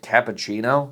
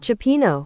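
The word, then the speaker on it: cioppino: I also learned that the bowl of soup was actually called cappuccino. Chipino. But nobody in my white-ass family could pronounce that, so we called it cappuccino.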